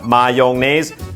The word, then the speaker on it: mayonnaise: ร กั น แ น่ ค รั บ mayonnaise mayonnaise mayonnaise mayonnaise mayonnaise ห รื อ mayo